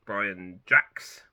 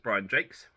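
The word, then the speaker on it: Brian Jacques: the time when I read them how to pronounce his name so I said Brian jacks or Jacques because it's j-a-c-q-u-e-s like the French name but it's Brian Jakes this is a huge series I think it's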